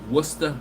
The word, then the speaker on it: Worcester: main or excuse me worcester massachusetts and you have to say it like that okay after going to